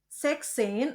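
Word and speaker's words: sechzehn: funksin sipin aksin eh hati-hati untuk sexin 16 s-nya dihilangkan dan untuk sipsein en-nya hilang ya jadi zein sipin pun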